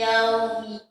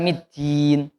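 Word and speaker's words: يوم الدين: Maliki yaumiddin. Nah, huruf da-nya jangan berdesis. Jangan ada hamzah Pak ya. Bukan middin.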